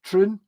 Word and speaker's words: Troon: was down in a Troon which you have to pronounce like your ice cream with a spoon all right it's like spoon prune uh I need Bucky